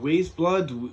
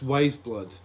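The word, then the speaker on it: Weyes Blood: her name is yeah she's called wise blood but it's spelled like weye s.vs and I was thinking ways blood wee-wees blood what does that hate me it's wise blood I had to giggle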